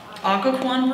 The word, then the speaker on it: Occoquan: you go how do you say this bridge Occoquan bridge there Peter when he saw a Dodge